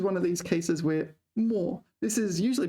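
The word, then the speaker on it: 没: here this is one of these cases where more this is usually pronounced may may me but here it's pronounced more um right all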